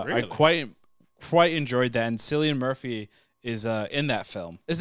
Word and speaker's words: Cillian Murphy: Cillian Murphy.